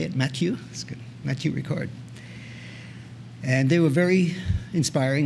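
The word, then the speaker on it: Matthieu Ricard: Matthew Ricard.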